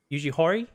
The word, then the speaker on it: Yuji Horii: interview portion of the live stream um uh yuji horii yugihori this is how you pronounce it the dragon quest creator did let